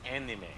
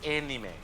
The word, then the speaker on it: anime: Well, no, not anime. It's anime. What? Like, literally, AE is pronounced like A or eh, kind of. Yeah, that's what I said. So it's anime.